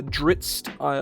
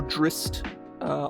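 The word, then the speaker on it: Drizzt: to my understanding um there are multiple ways you to pronounce it and um um uh dritzed i or or drist either one of those is fine i don't know about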